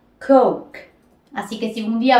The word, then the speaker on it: coke: más abreviada de coca-cola es coke que no se dice Coque sino se pronuncia coke Así que si un